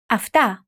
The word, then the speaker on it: αυτά: Αυτά.